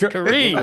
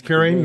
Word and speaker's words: Kareem: not. It's Kareem. Go ahead. That's Kareem. That's Kareem. How do I How do I pronounce that? It's Karem. It's not. It's Kareem.